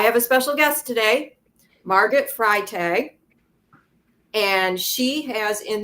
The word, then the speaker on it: Margot: It's actually Margot. A lot of people get that wrong because there's a silent T at the end.